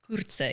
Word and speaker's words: Coertze: Coertze. Coertze, because there's an R there. Coertze, yes.